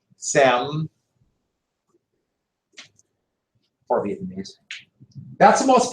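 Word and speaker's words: Diệm: I know it's Diem, but it's pronounced Sem.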